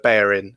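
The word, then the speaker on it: Bellerín: Yeah, I assume if Mike is going to pull us up on our pronunciation of Bellerin as well. Oh, horrible. Yeah. There's something going on then. Anyway. Not double L, that's all I know.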